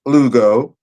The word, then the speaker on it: Lugo: My name is Elugeeoh. It's spelled L-U-G-O. Now, if you say the name on Facebook, Elugeeoh, it is a phonetic pronunciation of my name, L-U-G-O.